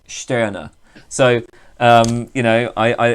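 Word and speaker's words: Stirner: max sterner i have oh no it's not pronounced like that i was told that it's pronounced sterner so um you know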